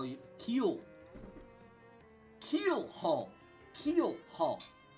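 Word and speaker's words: Keelhaul: Keel Hall. Keel Hall. I've always pronounced it Keyhole. Keyhole. Forgetting the other L.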